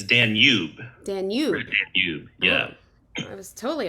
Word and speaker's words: Danube: Danube.